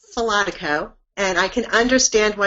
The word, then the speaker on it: Falotico: test to our listeners sure Karen and I'll pronounce my last name for Becky its philotic oh and I can understand why you choose not